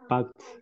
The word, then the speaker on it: packed: Okay, packed. Packed, with T sound, exactly.